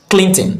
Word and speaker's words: Clinton: Remember, since it has a silent syllable, and where do we have the silent syllable? We have the silent syllable here. This O is silent. O is not part of the pronunciation.